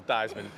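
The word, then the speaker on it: Theismann: back around right damn change his name to rhyme with Heisman Joe thyman crazy Jersey guy like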